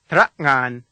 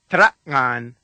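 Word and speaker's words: tera'ngan: second syllable, ngan, is the same as the sound that comes at the end of the word thing or hang. Let's practice it together. Mm. Listen once more. Trakngan.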